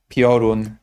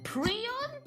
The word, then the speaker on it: Piorun: Let me see how this person will handle the pronunciation of the word Piorun, because Prion? Is that how you guys call it? Oh my god. Prion? Who says that?